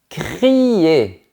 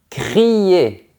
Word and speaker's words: crier: créer, c'est différent de crier. Ici, il y a le son i crier.